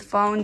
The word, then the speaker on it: phone: And with phone, this is a little bit trickier because we have a silent E, and the silent E makes the vowel sound say its name. That's why it's a long O.